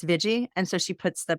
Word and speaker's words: Viji: of psychology Community um her name the Iji sometimes people say VG but it's veggie and so she puts